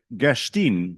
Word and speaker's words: Gerstein: And the speaker is Herzl Gerstein, who rhymes with lean.